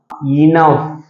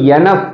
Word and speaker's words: enough: இன் ஓ ஜி எச் இந்த வார்த்தை எப்படி வாசிக்கணும் அப்படின்னா இனஃப் ஓகே இனஃப் இத வந்து எனப் அப்படின்னு சொல்லக்கூடாது நிறைய பேர் வந்து தப்பா